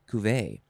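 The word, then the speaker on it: cuvée: or ku kuve kuve it's very french way cuvee it is spelled c-u-v-e-e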